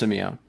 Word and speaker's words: Simi: going on and my last name is pronounced Samia closed it's okay right